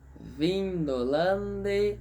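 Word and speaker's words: Vindolandae: Vindolande sumus. Vale lembrar que AE em latim sempre, sempre e sempre será pronunciado como E. Lembre-se, de novo aqui. AE se pronuncia E.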